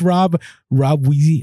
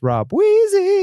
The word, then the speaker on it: Rob Wheezy: Next, thank you so much, Rob Wheezy on Instagram. You said that wrong. What? It's Rob Wheezy.